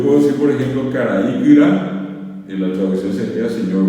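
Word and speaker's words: kyra: Kira, y se escribe K-U-R-A. K-U-R-A. Kira. Kira quiere decir gordo, gorda, gordo, gorda, obeso, obesa, ¿verdad? Gordo, kira, no lleva nasalidades, no lleva acentos, así como escuchan, kira.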